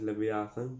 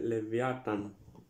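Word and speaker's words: Livyatan: Το συγκεκριμένο βασικά δεν προφέρεται ακριβώς Λεβιάθαν, προφέρεται Λεβιάταν ή αλλιώς Λεβιάταν Μελβιλέη ή αλλιώς Λεβιάθαν του Μέλβεϊν.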